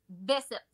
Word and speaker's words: Bessette: Comment tu le prononces? Bessette.